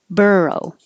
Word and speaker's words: burrow: the person says it burrow bur is the stressed syllable burrow rural this is